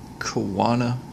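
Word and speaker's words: choana: are easily noticed here as well the proper pronunciation is Kawana singular or Kewanee plural for these nasal passageways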